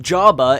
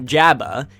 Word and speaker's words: Jabba: name is pronounced Amidala am i da la Jabba the Hutt is pronounced Jabba and not Jabba and his last name has two T's in